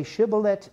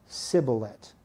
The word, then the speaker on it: shibboleth: they will not right if you ask them to say shiblet they only say siblet right they're not acquainted